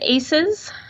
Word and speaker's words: ACEs: now John is a how you say it aces it is pronounced to simply aces and we usually make